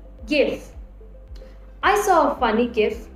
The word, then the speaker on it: GIF: word should be pronounced is it jif or gif according to the oxford dictionary they prefer give gif i saw a funny